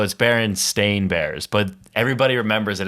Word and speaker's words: Berenstain: Spell that? It's probably like bear because it's Baron. So BEARANSTEIN. It's Berenstain Bears, but everybody remembers it as Berenstein, so it's Stain at What?